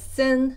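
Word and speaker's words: 森: If you stuck 3 of the mu together, this character pronounced as sin means like large forest.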